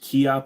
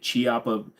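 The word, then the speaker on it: Chiappa: but it's actually pronounced kppa a lot of people people will say chiapa but it's actually Italian and Italian it's a hard C so it's kppa kppa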